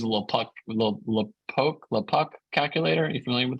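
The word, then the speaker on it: LoPucki: if you use a little pluck a little poke the puck calculator are you familiar with this vlad um there's a ucla professor uh of bankruptcy who you came up with yeah yeah the puppy that's how you say it he has a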